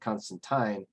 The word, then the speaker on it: Constantine: in to confirm that alan moore pronounced it counts constantine tweeting i spoke to alan moore about swamp thing at a signing back in the midst of history when he did such things and he absolutely pronounces it constantine that constantine and alan